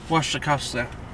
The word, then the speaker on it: Wasikowska: Mia, I'm sorry, I never know how to pronounce her name because it's Eastern European, and Wasikowska? I'm terrible. Wasikowska.